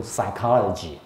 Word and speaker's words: psychology: 完全不发音啊，就 psychology 啊，就只有这样的一个发音啊。